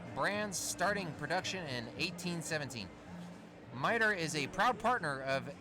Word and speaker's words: Mitre: Eastern on I Heart Radio mitre pronounced mitre just in case you wondered the Turlock Express